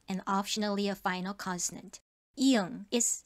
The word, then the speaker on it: 이응: 이응 is silent as the initial consonant, but still must be written. And as the final consonant, it is pronounced as 응, like in song.